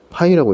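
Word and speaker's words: Π: 왼쪽에서 요 기호를 뭐라고 읽냐 하면 파이라고 있습니다. n 파이 r. 이 파이는 곱을 뜻하는 프로덕트의 p에 해당하는 그리스 문자로 파이라고 읽습니다.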